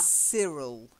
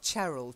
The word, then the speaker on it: Cyril: okay so we've got yeah Cyril not charile Gerald is a girl's name and Cyril is a boy's name so Cyril try it yeah that's it if